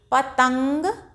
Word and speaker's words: पतंग: पतंग, ता के ऊपर लगी है तो ता को जब हम उच्चारण करेंगे तो नाक से ध्वनि निकालेंगे, पतंग उड़ा।